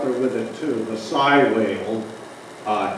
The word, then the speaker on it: sei: with it too the Sigh whale uh SEI U Scandinavian word pronounced Sai and the the little